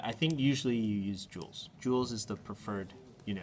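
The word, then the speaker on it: joules: j o u l s that's how you pronounce it Jewels like bejweled Jewels but it's j o u l s okay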